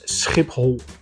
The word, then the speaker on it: Schiphol: simulate the sound so the second part of the word is pronounced whole so the whole word is pronounced as SCP hole if you really want